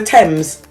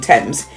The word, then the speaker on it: Thames: tours of the river thames although she pronounces the h in thames it's possible no one would notice her last job choice